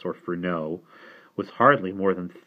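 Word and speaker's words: Furneaux: furnace please Simon said hesitantly sir no if you please film no I cannot endure the English pronunciation dr. furnace or Ferno was hardly more than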